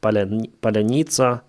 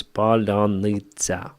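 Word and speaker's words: паляниця: me, I didn't pronounce Palinitsa properly at first, but later on, yeah. Usually Russians pronounce it as Palanitsa. Palanitsa. In Ukrainian, it's Palanitsa.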